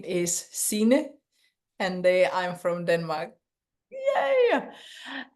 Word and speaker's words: Sine: we know okay hi and my name is CA and I'm from Denmark yay and of course I'm Amanda and just here to inspire you and CNY I know she said I can say it this way because of my American